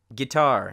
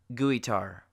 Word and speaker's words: guitar: Now the letter U is silent sometimes when it comes before a G, like guess, colleagues, guitar, not guitar, or tongue, not tongue.